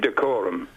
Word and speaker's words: Dacorum: Is that decorum or dacorum? Well, I don't know. The way they pronounce it, decorum.